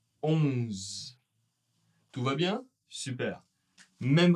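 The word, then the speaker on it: onze: Il va être on. On. La bouche bien fermée, un peu nasale. Hein. On ne va pas prononcer le E, mais on prononcera un Z un peu long. 11. 11.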